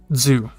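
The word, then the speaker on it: づ: you're typing it's pronounced zoo or sorry when you're speaking it's pronounced zoo like dzu zoo but when you're typing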